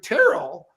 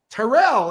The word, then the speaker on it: Tyrrell: It took me a while, Gary, because I used to say to you, you're Gary Tyrrell, and I used to say Tyrrell, and I'm thinking, what a dummy.